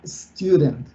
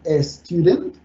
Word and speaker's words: student: I am a student. Muchas veces esta palabra es pronunciada como student, pero solamente se pronuncia la S, student, okay?